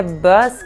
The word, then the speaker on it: bus: Quando você pronuncia bus, que é ônibus, é muito sutil, você abre bem pouquinho a boca, é como se você tivesse um sorrisinho, entendeu? Bus, bus. Por exemplo, na frase, you should take the bus. You should take the bus. Bus, you should take the bus. Repete. You should take the bus. You should take the bus. Então não abre muito a boca.